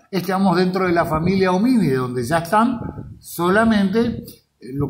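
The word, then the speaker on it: Hominidae: Y dentro de este grupo o familia homínido, recuerden que el sufijo idae se pronuncia ide, entonces acá se pronunciaría homínide, esto sería homínide, o vulgarmente conocido como homínidos, también no está mal dicho.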